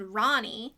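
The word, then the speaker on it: Rani: In the books, there was a character named Ronnie, yes, that's how it's pronounced, and she loses her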